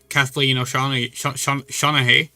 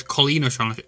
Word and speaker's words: Colleen O'Shaughnessy: Because Shadow was the first character confirmed, and then Kathleen O'Shaughnessy, I think that's how you pronounce it. It's Colleen O'Shaughnessy.